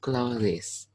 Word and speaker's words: clothes: i shot as the clothes touch your eyes close this load close not glue this okay it's one syllable only clothes clothes clothes clothes clothes okay not clothes okay okay okay okay